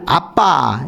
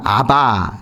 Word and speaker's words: 아빠: 우리말로 번역을 아빠 이렇게 지난 개역 한글판에서는 아바 그렇게 해놨죠. 발음으로 보면 아빠입니다. 아람어예요.